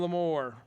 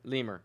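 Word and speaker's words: Lemoore: one uh Redwood and Lam more Lam more I will take Lam more I've never heard you pronounce that correct never heard you pronounce it correctly lemur it's lemur yeah yeah yeah all right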